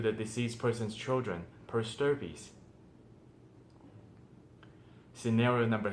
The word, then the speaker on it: stirpes: the probate estate per stirpies. And you might wonder, what? Stir fry or stirpy? No, it's spelled STIRPES.